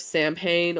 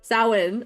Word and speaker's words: Samhain: This is known as the Witch's New Year, October 31st, Samhain, or All Hallows Eve, or whatever you want to call it. Samhain.